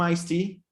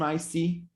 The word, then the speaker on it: iced tea: What happens is that you are not going to pronounce the same sound twice, so you just get this out of there. Iced tea. Can I get some iced tea? And then you have elision of the T.